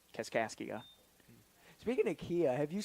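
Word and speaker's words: Kaskaskia: The the Yeah, the way that it's spelled is Cas Kia, but it's Cascasia.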